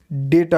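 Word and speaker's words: data: इसकी शुद्ध जो सही प्रोनाउंसिएशन है वो डेटा होगी इंग्लिश में। हिंदी में अगर आप बात करते हो डाटा कह देते हो तो आई गेस दैट्स ओके, मगर when you are talking in English you are suppose to speak like डेटा।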